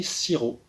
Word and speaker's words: sirop: Mais, en français, c'est un petit peu particulier, encore une fois, il y a une lettre que l'on n'entend pas. C'est le P.